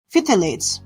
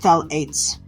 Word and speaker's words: phthalates: But what if I told you the chemical inside them called thalates could be the silent trigger behind heart disease, cognitive decline, and asthma. Fithilates, pronounced thalates, are a group of chemicals used to make plastics flexible and harder to break.